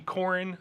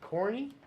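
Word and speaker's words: Korin: That would be Corin Thorngage. Okay. C. Oh. Corny? Corin. Corin Thorngage. It's K-O-R-I-N. Corin Totally different.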